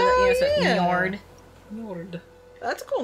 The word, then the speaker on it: Njord: Norse god of the sea is Njord. Njord of the Ford? N-J-O-R-D. But you know how, like, Bjorn is spelled with, you know, so yeah. Njord.